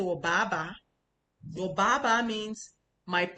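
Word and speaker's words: 爸爸: And maybe the ba you're trying to say is your father, ba ba. Ba ba is the fourth tone down. Or ba ba, you know? But instead of that you say wo ba ba, your ba ba means my pull pull.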